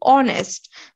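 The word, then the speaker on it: honest: তাই এ বসে গেল কিন্তু অনেস্ট এখানে এইচ থাকা সত্ত্বেও আমরা ও এর উচ্চারণ করছি অনেস্ট তাইন হল আওয়ার এখানে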